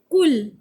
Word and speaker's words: कूल: कूल किनारा, बड़े ऊ के साथ है तो उच्चारण क्या है? कूल किनारा।